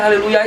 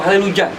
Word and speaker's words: haleluya: saya tidak berani merubahnya haleluya itu. Haleluya atau haleluja. Banyak dialek-dialek yang ada perbedaan sedikit pengucapannya. Haleluya, haleluja, haleluja, dan banyak. Haleluya ada juga. Itu kan tergantung negaranya masing-masing.